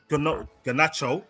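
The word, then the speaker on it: Garnacho: Between Ganos, Ganacho, that's his name, by the way.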